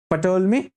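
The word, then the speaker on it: Ptolemy: तो याद रखो क्लाउडियस पटोलमी। ठीक है? टोल मी भी बोलो। पी को प्रोनाउंस नहीं करोगे तो चलेगा।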